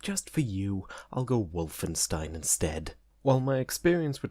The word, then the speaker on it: Wolfenstein: __ ] love Wolfenstein yes that's the actual pronunciation and after you learn German for even a little bit hearing a whir sound instead of a the sound whenever there's a W in a German word really starts to get to you but just for you